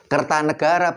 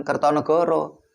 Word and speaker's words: Kertanegara: Karena sastra Jawa itu baru mengenal vokal O itu baru abad 15. Sebelum abad 15 sastra Jawa tidak mengenal vokal O. Bacanya Jayabaya bukan Joyoboyo. Kertanegara bukan Kertonegoro.